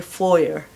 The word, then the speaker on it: foyer: Okay, British कहेंगे फोयर, FOYER, फोयर. फोयर में ये आपको जाएं फोयर में. अमेरिकन्स कहते हैं फोये, फोये.